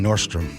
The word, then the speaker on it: Nordstrom: going to be going Nordstrom's. What's next? Pike's place. I say Nordstrom. Going to Nordstrom. Just It drives ME NUTS WHEN PEOPLE SAY IT like that.